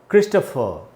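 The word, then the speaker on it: Christopher: क्रिस्टोफर, यहाँ लिखा है मैंने उच्चारण क्रिस्टोफर।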